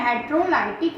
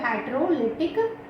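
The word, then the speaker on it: heterolytic: एक होता है होमोलाइटिक बॉन्ड फिजन, ठीक है, और दूसरा जो होता है वो होता है हेट्रोलाइटिक या फिर हेट्रोलिटिक बॉन्ड फिजन, ठीक है।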